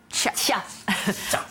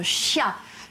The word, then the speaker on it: chia: Alors, aujourd'hui, je vais vous parler d'une fabuleuse petite graine richissime, la graine de chia. Alors, il y en a qui prononcent chia. C'est pas très joli.